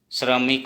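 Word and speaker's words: শ্ৰমিক: जैसे तालविक स्वैर फलाक श्र, श्र, श्र से हम श्रमिक लिख सकते हैं, और असमिया में तालविक स्वैर फलाक श्रो, श्रोमिक, श्रोमिक मतलब श्रमिक को श्रोमिक ऐसे उच्चारण होगा।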